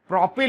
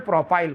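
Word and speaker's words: propyl: Normal प्रोपाइल, या हिंदी में कहीं लिखा होता है तो नॉर्मल स्मॉल एन प्रोपिल लिखा होता है, ठीक है। अपन इसको वही प्रोनाउंसिएशन में प्रोपाइल बोल रहे हैं।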